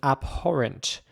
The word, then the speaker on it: abhorrent: And in my opinion, you pronounce it abhorrent. Abhorrent.